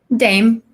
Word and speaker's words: Dame: how do you say your last name Dame just name okay I didn't know Dom a dame I don't know Dave Koz Dame she's a dame palace is a dame I mean I thought it was something very